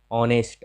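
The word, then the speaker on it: honest: जब ओ आता है तो एच का उच्चारण कई स्थान पर नहीं होता है, जैसे ऑनर, ऑनेस्ट, ऑनेस्ट मतलब ईमानदार, आवर, आवर मतलब घंटा, तो इनका उच्चारण नहीं हो रहा है।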